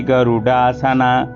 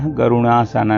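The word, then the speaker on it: गरुडासना: गज सवा रूढ़ा वैष्णवी गरुडा सना यहां गज समा रूढ़ा रूढ़ा नहीं बोलना है रूढ़ा बोलना है और गरुड़ा सना बोलना गरुणा सना नहीं बोलना इस चीज का ध्यान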